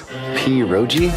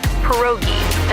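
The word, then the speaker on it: pierogi: Poi. Did I pronounce that right? It's pronounced perogi.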